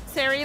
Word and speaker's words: Sere: It's pronounced Sari like fairy, if that helps you remember it.